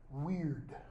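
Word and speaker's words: wyrd: Belief in, reliance on, trust in, this notion of weird. Weird, as it's pronounced. Not modern English, weird.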